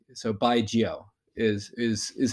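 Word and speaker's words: 白酒: pronounce it usually is like you say like by like that's pretty straightforward like you're saying goodbye to someone and then the second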